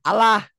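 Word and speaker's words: الله: Allah dibaca tarkik atau tipis, berbunyi lah Allah. Kayak orang Hmm. Nasrani ya. Orang Kristen bunyinya kan Allah.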